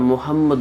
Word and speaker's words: মোহাম্মদ: তিন নাম্বার ভুল হলো মুহাম্মাদুর রাসুলুল্লাহ অর্থ মুহাম্মদ সাল্লাল্লাহু আলাইহি ওয়াসাল্লাম আল্লাহর রাসূল বড় হা দিয়ে মোহাম্মদ আমরা মোহাম্মদ বলি মোহাম্মদ মোহাম্মদ হলে গোল হা হয়ে যায় মোহাম্মদ এটা বড় হা শক্ত হা মোহাম্মদ মোহাম্মদ অর্থ হলো